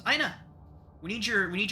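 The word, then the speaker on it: Aena: Aina there it is there's actually a pronunciation guide Aina a-e-n-a I know I kept cleansing I kept flinching whenever you said Anna I was like oh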